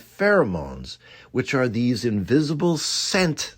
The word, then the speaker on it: pheromones: I had pronounced them as fair-a-mones.